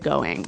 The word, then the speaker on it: going: Now, you notice in the spelling that we do have a G at the end, ing, right? Yeah, but usually you don't really pronounce the G in this context because it's very informal.